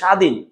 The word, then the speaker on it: স্বাধীন: তুমি তোমার মতো করে, কিন্তু এটার উচ্চারণ তো সাবাদিন না, এটা হচ্ছে স্বাধীন।